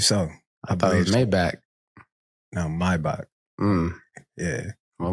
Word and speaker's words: Maybach: Let me say this correctly, Maybach. Okay, a Maybach. I wasn't in a Maybach. I wasn't in one of those. Okay, that's how you say it, Maybach.